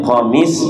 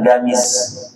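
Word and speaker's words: قميص: Ya, biasanya kan orang kalau orang Mesir itu menyebutkan huruf qf dengan gain ya. Huruf qf huruf qf itu disebut dengan g ya. Jadi bacanya qamis ya. Ada yang menyebut huruf qf dengan hamzah ya. Jadi bacanya bukan qamis, bukan gamis tapi amis ya.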